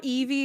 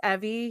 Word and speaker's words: Evie: does he really yeah it's not Eevee it's Evie he says I'm like